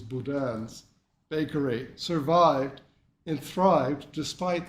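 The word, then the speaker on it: Boudin: it it tells how Bowens or actually the French pronunciation is Budan Bakery survived and thrived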